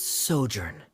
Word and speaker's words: sojourn: story together foreign how do you pronounce this word let me see Ah that's sojourn it means to stay for a while this